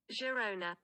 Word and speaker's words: Girona: Girona. Okay. Why do you have to keep going Garona.